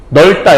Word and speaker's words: 넓다: 이중 발음을 발음하는 법을 알아야 되는데 리을 비읍 같은 경우에는 뭘로 발음하냐면 여러분 넓다. 와 하늘이 넓다 라고 해요. 하늘이 넓다라고 해요. 리을 비읍은 뭘로 발음하냐면 앞에 있는 요 리을로 발음해요. 앞에 걸로.